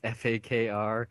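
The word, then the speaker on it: Fakir: I'm not pronouncing that wrong. It's Fakr.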